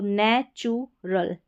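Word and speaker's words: natural: तो यहां पर नेचु यानी टी और यू का उ की मात्रा के रूप में उच्चारण हुआ है। तो नेचुरल नेचुरल नेचुरल यह है सी यू एल।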